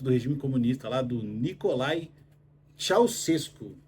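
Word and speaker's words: Nicolae Ceaușescu: regime comunista lá do Nicolae Ceausescu. Essa é a pronúncia correta aí do ditador que mandava lá.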